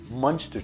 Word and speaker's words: muenster: about a pound of muenster cheese that's for you Elliot I said it right one is the cheese not mince to cheese the way we old old people in my community say so it's kind of monster cheese and we take